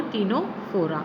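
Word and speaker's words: Ctenophora: Divide होता है ये, निडेरिया और टीनोफोरा। सी साइलेंट है इसमें।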